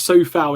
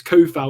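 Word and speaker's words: Coufal: or coup foul um no one's really sort of found out how to pronounce it properly i'll get on my videos like always get ben is so foul it's ko foul he's so kevin yeah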